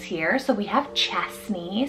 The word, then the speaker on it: Chesney: So we have Chesney, spelled C-H-E-S-N-E-Y, Chesney.